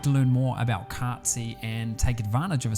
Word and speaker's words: Cartzy: This episode is brought to you by Cartsy.